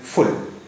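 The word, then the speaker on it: full: बदल जाएगी जैसे य एफ यू एल एल फुल फुल अब य पर अगर हम फ को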